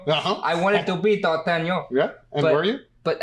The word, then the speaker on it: D'Artagnan: D'Artagnan.